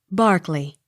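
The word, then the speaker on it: Berkeley: beaver b e r k e l y barkley b e t h u n e b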